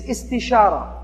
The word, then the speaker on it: istishara: The second step of a decision-making process is istishara. It sounds kind of like it rhymes with istikhara. It's because it comes from the same verb pattern, which basically is the Arabic word for seeking counsel, seeking advice.